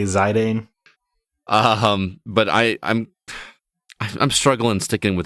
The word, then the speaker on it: Zidane: Zidane. Do you pronounce it Zidane?